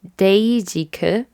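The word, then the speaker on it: Dasique: Wow, in Korean it's Daejeek. So it's Daejeek. Okay, oops, I've been saying it wrong this whole time.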